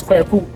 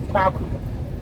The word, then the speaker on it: Kweku: But then his original name is Kweku, my name, a Wednesday born. Because the English couldn't pronounce the original name correctly, they anglicized and corrupted the name Kweku to Kwaku.